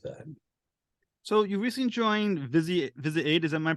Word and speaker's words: Visi8: So you recently joined Visi8. Is that, am I pronouncing it correctly? Visi8.